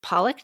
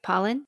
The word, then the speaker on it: Pollan: And we had spoken of how Richard Pollock, did I say his name right? Pollan? We talked. Michael Pollan. Michael Pollan.